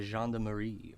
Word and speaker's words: gendarmerie: I don't want to be seen talking to the gendarmerie, if that's okay. I just want to finish my cigarette. That's how you pronounce that.